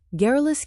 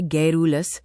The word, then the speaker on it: garrulous: गैरुलस क्या है? इसका सही उच्चारण है गैरुलस गरुलस।